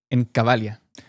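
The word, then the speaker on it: Cavalia: a saltar, pero ¿cómo fue tu experiencia en Cabalia o Cabalía, no sé cómo se dice. Cabalia.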